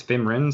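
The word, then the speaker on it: Fymryn: into the game especially fenrin like her powers are am i saying it wrong it's finn wren sorry her powers are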